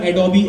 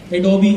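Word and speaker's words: Adobe: फिर AI, repeat करूं दोबारा, Figma, sketch SKETCH, sketch, एडोबी XD, जिसको हम लोग एडोब बोलते हैं, बेसिकली उसकी प्रोनाउंसिएशन एडोबी है, एडोबी XD।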